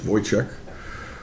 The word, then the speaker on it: Wojcik: Or Wojcik, we might call him, but pronounce it properly, it's Wojcik.